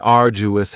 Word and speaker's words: arduous: next is arduous and arduous has three syllables and the stress is on the first syllable arduous now you don't hear that D sound that much it's not very strong it almost sounds a little like a j arduous arduous something that is arduous